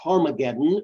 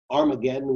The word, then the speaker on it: Armageddon: In the Hebrew, it's pronounced Harmageddon or Armageddon, we say today.